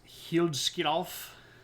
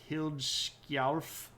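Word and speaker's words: Hliðskjálf: Um, and Odin is sitting here on his magic throne, which is pronounced Hilkov. Uh, I probably butchered that. Uh, Hilkarf.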